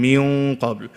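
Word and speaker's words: من قبل: But when I came to the qaf, what did I do? I brought it in, min qabl, because then it'll be easier for me to say the letter qaf.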